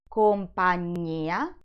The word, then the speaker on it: compagnia: In the first word, the accent falls on the letter I, compagnia, while on the second word, the accent is on the first A, compagna.